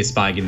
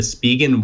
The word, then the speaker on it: Spigen: I think it's pronounced Spigen. I asked them once, and they said it was Spigen. I always used to say Spigen, though.